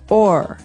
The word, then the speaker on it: o'er: So this is a way to make the word over shorter, because over, you can hear it, 2 syllables, over. Mm-hmm. But sometimes we only want one, so we say or.